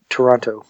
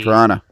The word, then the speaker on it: Toronto: Toronto. Yeah. So so close. Yeah. See, the second T is silent. It's Toronto. So there's no T. Toronto.